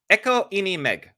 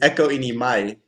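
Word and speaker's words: Ekko i meg: It's echo in my cuz like with the eg ending it's like an I sound in Norwegian.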